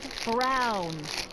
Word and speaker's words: Brown: bill to a speed that Emmett Brown rhymes with clown which I'm beginning to